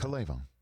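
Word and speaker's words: K'Lavon: I don't know how to pronounce it. Calavon. There you go.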